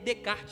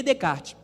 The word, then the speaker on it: Descartes: escapar tá bom o nome dele é Renê de kart né francês né mudou o microfone de novo tá vendo aí é René Descartes René descarte ele foi o pai do racionalismo